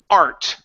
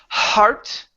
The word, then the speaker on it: art: briefly like the word art art class instead of heart ok you have to work on removing that H that H cannot be there because heart is inside your chest that's your heart art is drawing and so if you say heart class someone might hear that and go oh you're learning about the body parts the hearts you need to remove the H you cannot pronounce a